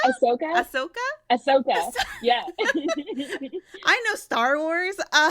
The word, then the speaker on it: Ahsoka: I don't even know how to pronounce this character. I think they're from Star Wars. Asuka? Ahsoka? Ahsoka? Ahsoka.